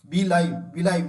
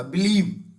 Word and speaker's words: believe: बिलाइव नहीं होता, बिलीव, BELIEV, बिलीव।